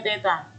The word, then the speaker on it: theta: Kalau dia massa dimensinya M, kalau waktu dimensinya T, kuat arus dimensinya I, suhu dimensinya theta, yang seperti huruf O di garis tengah itu membacanya theta.